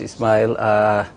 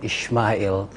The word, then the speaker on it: Ismail: Thank you very much, Ismail. You corrected me this morning. I was saying Ishmael. I think the Muslims, that's how we pronounce it.